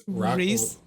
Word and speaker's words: raceme: Raceme? No, it's raceme. It's spelled as raceme.